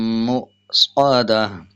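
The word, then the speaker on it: مؤصدة: जब हमज़ा के ऊपर जज़म आ जाए तो हमज़े को झटके के साथ अदा करना होता है। जैसे अलैहिम नारुम मुस्वदा मुस्वदा। अगर इसके हिज्जे करेंगे तो पढ़ेंगे मीम हमज़ा पेश मु, वाव को साइलेंट रखेंगे और हमज़ा को पढ़ा जाएगा।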